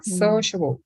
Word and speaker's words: sociable: Los dos son de 3 sílabas, pero uno tiene el estrés en la primera sílaba, sociable.